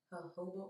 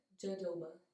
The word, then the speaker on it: jojoba: Recently, I've been using jojoba oil. Somebody told me that's how you say it, so it looks like jojoba, but I was corrected. It's jojoba.